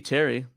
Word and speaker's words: Terry: patrick terry bogard wait how do you say that carrie bogard t-e-r-o-y-b-o-g-a-r-d is it possibly just under boguard it should be terry you know that he's